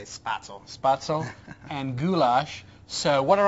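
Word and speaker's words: Spätzle: do you say it I say spadeso but I think it's supposed to say spato and goulash so what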